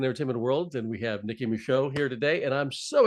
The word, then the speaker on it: Nicki Micheaux: of Hollywood and entertainment world and we have Nikki Michelle here today and I'm so excited to have you and did I pronounce the name correctly you did it you